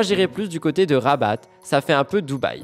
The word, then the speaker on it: Rabat: plus du côté de Rabat ça fait un peu Dubaï j'espère que j'ai bien prononcé rabat je crois qu'on prononce le T bref poupette Kenza n'a